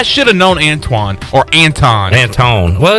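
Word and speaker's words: Antawn: a n t a w n a w anton it's spelled like anton yeah that's right i remember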